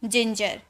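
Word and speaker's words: ginger: बोलेंगे जम ठीक है जी आई एन जी ई आर तो आई से पहले देखिए जे का यूज किया गया यानी कि जिंजर जी ई एन टी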